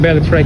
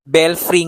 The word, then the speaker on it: Belfry: So ito lang yung Bell Fry Cafe. Bell free nga ang pag-pronounce. Ang kulit. No, seriously. Hindi ko pa kasi alam i-pronounce 'yung pangalan nitong cafe. Akala ko talaga nng una ay bell fry.